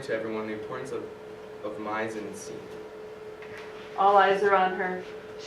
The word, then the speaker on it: mise en scène: Well, actually it's not mise en scene, it's pronounced mise en scene, and it's encompassed the most recognizable attributes of a film.